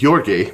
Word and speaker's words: Georgy: oh by the way his first name is you're gay by the way since I learned how to pronounce that I want to be sure you're at least once during this passo you're gay Konstantinovich Zhukov but he